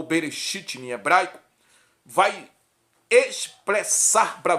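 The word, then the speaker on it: בראשית: do hebraico no hebraico nos papiros hebraico se pronuncia Gênesis bereshit em hebraico que significa o sítio na gramática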